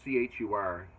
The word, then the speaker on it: Chur: And then we went over to, it's spelled C-H-U-R, Chur, but it's called Kudo.